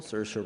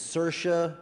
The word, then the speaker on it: Saoirse: favorite actresses, but one of my favorite people, Saoirse Ronan.